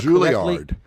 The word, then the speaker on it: Juilliard: Juilliard. Yeah, thank you. Juilliard. At least get that right. Juilliard. Miles Davis. Did he ever study at Juilliard? He I know played in this. he played in the Juilliard.